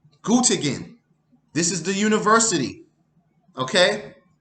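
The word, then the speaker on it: Göttingen: up with these Concepts G is spelled g-o-t-t-i-n-g -e-n very simple gut again this is the University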